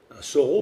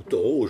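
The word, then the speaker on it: Thoreau: là sont aussi naturels Soro par exemple ou taureau je donnais de prononces l'un ou l'autre selon les lieux va être reconnue comme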